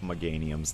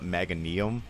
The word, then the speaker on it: Meganium: you meganium i love meganium's tcg cards they look so dope as a kid i used to call it mega neum i didn't know how to pronounce things i still don't know